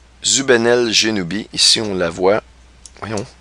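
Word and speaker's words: Zubenelgenubi: correspond précisément à l'étoile Zénubel Genubi. Je vais vous la montrer. Une drôle de prononciation. Zubenel Genubi.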